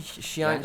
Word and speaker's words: Xiang: It should be Xiang. Look, okay, so I need to really brush up my pronunciation up on. So when it's not the IAN, it's N instead of An, which is a little bit of a different pronunciation.